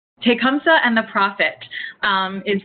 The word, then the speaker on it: Tecumseh: i'm gonna mispronounce this how do you say it again elizabeth i believe it's tecumseh tecumseh and the prophet um